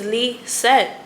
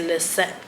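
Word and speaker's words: Lizette: love my name but nobody knows how to pronounce my name is Leette. They say Lette Lzette Leete Lzetti.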